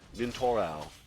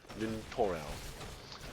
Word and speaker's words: Nintorau: It's actually Nintorau. He has a weird pronunciation.